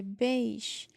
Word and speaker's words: beige: this rule is a beige the color beige again it has a i the reason that we it has that it usually follow the rules is because the EI is pronounced like a it's Beach it's not